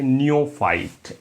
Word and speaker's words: neophyte: Friends next word हम discuss करेंगे और वर्ड है नियोफाइट, NEOPHYTE, नियोफाइट। क्या फ्रेंड्स? नियोफाइट।